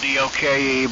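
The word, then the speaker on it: Doak: up in Franklin uh my name is and I'll spell it Delta Oscar Alpha kilo most folks they want to spell it doke but it's not spelled that way so I'll let you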